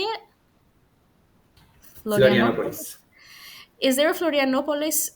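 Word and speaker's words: Florianópolis: Florianopolis.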